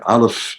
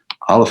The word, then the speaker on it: aleph: Aleph is totally silent. Aleph is, there's no sound. Chet, remember, is an unnatural letter. Chet, you have to break out of the natural world in order to achieve. Aleph is no sound.